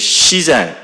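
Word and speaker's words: 自然: And what this is Jinen, the normal pronunciation in Japan is shizen.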